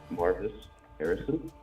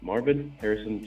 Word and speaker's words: Marvin Harrison: Marvis Harrison. That's not his name. Marvison. What's what? Merit version. Do you really not know how to say his name? Like, be honest. I'm saying Marvison. Marvin Harrison Jr.